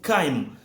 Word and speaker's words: chyme: I get to pronounce this as chyme.